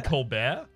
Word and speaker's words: Colbert: it though it's it's like the silent T in Kolbert silent T in Coleman you mean in Colbert yeah otherwise it's not a silent T Madhu okay well well